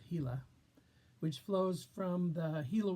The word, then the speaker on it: Gila: Gila, referring to the Gila River, Gila, pronounced Gila, which flows from the